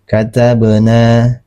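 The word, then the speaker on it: كَتَبْنَا: Cara membacanya adalah dipantulkan secara ringan. Ya, berbeda dengan qalqala kobra. Qalqala kobra dia dipantulkannya secara tebal. Ini secara ringan. Nah, cara membacanya katabna. Katabna.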